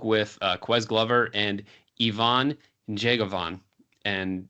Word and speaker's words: Njegovan: quz Glover and Ivon jeavon and you want to try to get the n Sound when you pronounce his last name it's going to take